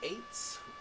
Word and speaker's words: airts: The eights, which is spelled AIRTS, are the...